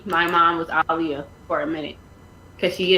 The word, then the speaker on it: Aaliyah: Her name is AALIYAH'. That's how you say my mom's name. That's how you say her name, okay? To the freaking Leah, okay? Like Muhammad Ali, okay?